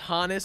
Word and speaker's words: Honus: me to believe that it is indeed pronounced Hannes especially the fact that his parents were from Germany and that his name